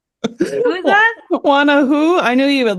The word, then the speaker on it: Juana: Juana, it's a very difficult, but Juana and Juan are probably one of the most used names in Spanish royalty.